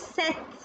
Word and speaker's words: sept: Here, P is silent. So this is set, with, nuff, this, owns, those.